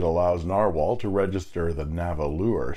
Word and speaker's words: Nahvalur: This might be a little confusing until you find out it's pronounced exactly the same as Narwhal. Only the spelling is different. Nahvalur is Icelandic for narwhal,